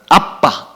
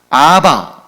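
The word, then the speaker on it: ἀββα: 에 아버지를 지칭하는 단어가 두 가지가 있는데 하나는 아빠 우리 랑 발음이 똑같아요 아빠 혹은 뭐 이제 영업권 내사랑 분들은 그렇 된 소리가 다르게 안되니까 아바 또는 이렇게 아파 이렇게 발음 합니다만 원래 바람은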